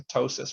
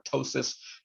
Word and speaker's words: ptosis: eyelid which is going to be called a petosis or a ptosis depending on how you like to pronounce that right but as the image is